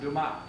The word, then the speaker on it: Dumas: tell me yeah yes i know but it's pronounced dumas yeah say that do my ah that's very